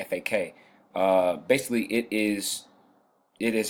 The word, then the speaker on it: FAQ: understand that FAQ FAQ you literally pronounce it back FAK basically it is it